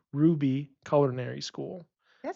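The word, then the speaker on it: Roux: have to look up how to pronounce Ruby it's Ru r o uxb Ruby culinary school that sounds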